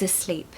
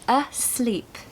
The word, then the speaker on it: asleep: She's asleep. She's asleep. Okay. I mean, so a pronunciation tip for this one starts with a schwa. So you need to say asleep.